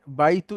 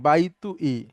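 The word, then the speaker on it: بيتي: মূলত শব্দটা হচ্ছে বাইতু ই, কিন্তু এভাবে ব্যবহার হয় না, হয় হচ্ছে বাইতি, মানে হলো আমার বাড়ি।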